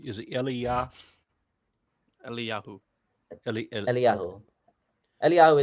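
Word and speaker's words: אליהו: it elah Yu elah eliahu is the Hebrew reading of his how would I know that when I look at the word that reads to me as Elijah how would I know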